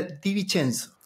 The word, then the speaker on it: Di Vincenzo: es una complicación y se pronuncia Di Vincenzo. Es italiano, se viene de esa rama, entonces, claro.